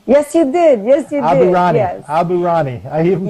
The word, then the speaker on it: Aburaneh: get your name right, didn't I, when I pronounced your name? Yes, you did. Yes, you Aburaneh.